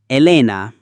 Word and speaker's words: Elena: Elena. Elena. Helen. I I is pronounced like the I sound in machine or as in the exclamation E.